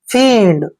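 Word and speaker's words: fiend: एफ का उच्चारण फे करेंगे और आई ई को यहाँ पर हम क्या पढ़ेंगे, ई की मात्रा, और एन को न पढ़ते हैं, डी को डे। फींड, फींड होता है दोस्तों शैतान।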